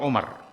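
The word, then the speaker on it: عمر: Amru itu biasa kalau tulisannya ada waw di situ. Amru. Tapi kalau tidak ada waw berarti bacanya Umar. Maka Umaru ibnul Khattab itu tidak ada wawunya. Maka dibaca Umar. Tapi kalau ada waw dibaca Amr.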